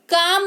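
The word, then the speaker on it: calm: हथेली, काम हो जाएगा CLM, काम, कालम नहीं काम यानी कि शांति।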